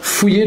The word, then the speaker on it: fouiller: À voir, fouiller, tu l'as, F-O-U-I, 2-L-E-R, c'est un peu difficile. Fouiller, pour faire le son IE avec les deux L, fouiller.